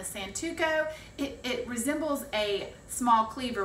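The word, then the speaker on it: santoku: Okay, the next knife is, I pronounce this a santuco.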